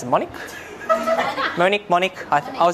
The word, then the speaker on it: monic: You hadn't had to pronounce it. Monic?